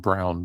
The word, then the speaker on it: Braun: I think he wants to be called Brown, by the way. Oh, Brown. Okay. Christian Brown. No, I know it's spelled Braun. Bra. Yeah, gotcha. Christian Brown. It is.